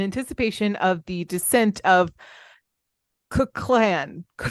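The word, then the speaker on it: Kukulcán: Located in Mexico's Yucatan Peninsula, in anticipation of the descent of Kukulkan. Kukulkan.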